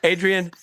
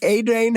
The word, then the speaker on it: Adrain: Adrian Ho as Dr. Heidegger. or is it Adrian Ho? Or is it Adrain? As, It's spelled Adrain. sorry. Steve. Adrain Ho.